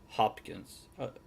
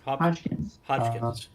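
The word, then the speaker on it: Hoskins: Which that's the one I fell in love with Bob Hopkins. Did I get his name wrong? Hodgkins.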